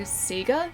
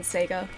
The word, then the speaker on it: Sega: Most people in Australia say Seagga. Yeah. Uh that's a lot more common here than Sega.